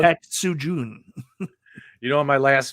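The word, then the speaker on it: Tatsujin: Tatsujun.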